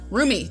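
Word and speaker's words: Rumi: Roomie, that that is literally how she's pronounced. I keep I keep on want to say Remy like that stupid mouse, but no, it's Roomie.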